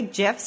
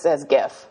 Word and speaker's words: GIF: So everybody says GIF. That's so funny. GIF is peanut butter. Yeah, it's GIF like the peanut butter.